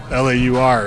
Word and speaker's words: Laur: Yeah, Lauer is German. Laur is French. See, because I was correlating it with louder Scotch, which I know there's no D in there, so yeah, and it's definitely not pronounced the same.